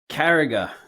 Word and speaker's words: Carragher: Even I can't even pronounce it properly. Carragher, Jamie Carragher.